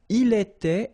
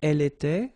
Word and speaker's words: était: Il était, elle était, final T not pronounced.